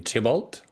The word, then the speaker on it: Thibault: How should I say your name? Tibol. Uh, Tibol. Tibol. Just imagine T I B O.